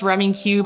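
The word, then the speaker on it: Rummikub: It is pronounced Rummy Cube.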